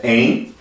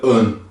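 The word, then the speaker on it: een: Isso aqui pode significar um, que é em, ou pode significar artigo definido, que significa an. An. Então você pode pronunciar tanto como an, quando você está falando de artigo, ou tanto como você está falando de número.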